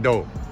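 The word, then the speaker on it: Deaux: It's pronounced Doe.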